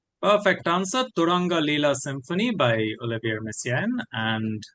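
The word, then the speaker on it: Turangalîla: Turanga Leela Symphony by Olivier Messian and Lavash is the Armenian flatbread.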